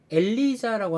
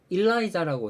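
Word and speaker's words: Eliza: 그 저기 뭐야 엘리자라고 하잖아요. 엘리자. 근데 북미에서는 일라이자라고 해요. 일라이자. 엘리자를 하는 것도 많습니다만은 이걸 일라이자를 읽어야 된대.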